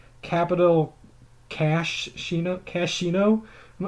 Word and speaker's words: Cashino: Cashino? I'm not sure how to pronounce that. I think it's just Cashino. Cashino. Is it bad that I legitimately did not notice that H until today when I was putting together the doc?